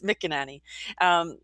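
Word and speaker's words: McEnany: on the spotlight here it's mick and annie that's her her name and i think she's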